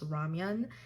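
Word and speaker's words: 라면: So ramen, also call it ramen, but in the correct pronunciation, it's ramyeon, and it's instant noodles, so you can enjoy it in instant noodle like the bags or cup noodles.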